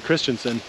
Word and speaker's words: Christensen: So I'm going to introduce, behind Ethan is Christensen. That's how you pronounce it, right?